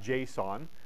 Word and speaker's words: JSON: definitely look at this next semester well you pronounce that JSON and it's from Java it stands for JavaScript